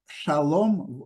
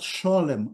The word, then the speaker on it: Shalom: so for them uh Shalom was pronounced the same name as for the Sephardic Jews so Shalom not schim like for uh L LX and not schim like for polish and um Ukrainian ashkenazic Jews